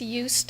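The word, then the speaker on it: Joost: by us and that's J oost and I believe that's pronounced UST it's it's my um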